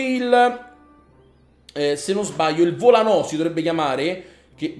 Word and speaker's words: volano: Ragazzi, ci rimane veramente poco, abbiamo messo anche il, se non sbaglio, il volano si dovrebbe chiamare, che vedo che c'è l'accento sulla O.